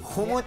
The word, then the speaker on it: Humood: The pronunciation of the name again, please. Humood.